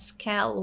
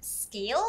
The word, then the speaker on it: scale: Mm, instead of scale, it was actually pronounced as scale, which is short E instead of long A. It should be scale instead of scale.